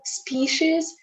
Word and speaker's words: species: Okay, so species, this is how most of the native speakers would pronounce this word.